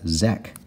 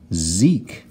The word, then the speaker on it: Zeke: e say its name without that silent magic he would have zek but here we've got Zeke Zeke let's do another name